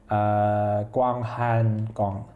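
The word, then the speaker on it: 广寒宫: She's supposed to live in a grand cold palace, which I had to look up the pronunciation of because my Chinese is bad, but it's Guanghan Gong, like big cold palace.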